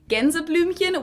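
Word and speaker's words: Gänseblümchen: So I would pronounce it genzlumin which literally translates to something like geese flower because genza are geese and then blen is flower but it also has the dimminative ending hen.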